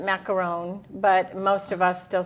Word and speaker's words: macaron: is definitely a difference the French pronounced it macaron but most of us